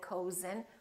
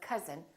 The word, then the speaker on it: cousin: like cousin my cousin we don't say my cozen we say my cousin or country and once